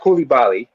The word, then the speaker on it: Coulibaly: Victor Wembanyama and Bilal Coulibaly. By the way, it's pronounced Coulibaly. He's Wembanyama. Both are French, but Coulibaly is of West African descent.